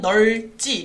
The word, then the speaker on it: 넓지: 즉 똑같이 리을 비읍이 오는 단어인데 넓지의 경우에는 널지 리을로 발음이 돼요.